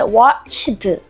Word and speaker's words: watched: 많은 사람들이이 단어를 얘기할 때 watched 3음절로 나눠서 읽는데 watched 두음절로 하시는 분들도 있고요. 근데 사실 이건 그냥 한 숨에 watched 하고 끝에 치트만 붙이는 거예요.